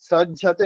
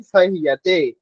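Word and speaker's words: सह्यते: সজ্জতে নয়, সহ্যতে।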